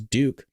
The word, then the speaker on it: Duke: My name is Duke. Rhymes with puke.